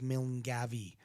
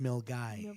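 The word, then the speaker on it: Milngavie: place close by called milgai yeah yeah very cool guy it looks if you read it phonetically the way it's spelled it looks like milne gavi but it's pronounced milgai yeah interesting i i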